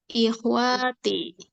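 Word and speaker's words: إخوتي: Haulai ikhwati. Bacanya yang benar. Haulai Haulai ikhwati. wanya pendek loh. Ikhwati. Ikhwati. Nggak ada wa-nya, ada alifnya, nggak ada matobi'inya, nggak ada.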